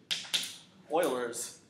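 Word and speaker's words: Euler's: a lot of people mess up how we pronounce this it is not ERS yeah Oilers uh numerical method um in fact this is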